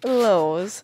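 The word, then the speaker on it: LOLZ: Me, lols. So, when I put L-O-L-Z, I actually pronounce it as lols, just like I say lol for L-O-L.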